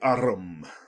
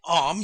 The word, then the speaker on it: arm: an arm your anna he pronounced it arum an arm you goose whoever saw